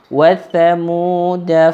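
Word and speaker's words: وثمودا: Ada huruf alif tapi atasnya bulat. Maka tidak boleh dibaca panjang. Wa thamuda, enggak boleh, langsung cepat. Wa thamuda wa thamuda fama abqa. Jadi alif tersebut dianggap tidak ada. Sehingga kalau dianggap tidak ada, maka tidak dibaca sama sekali.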